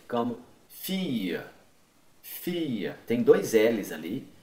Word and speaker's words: fille: Quando tem esses dois L's, a maior parte das vezes se pronuncia como se fosse uma extensão do I.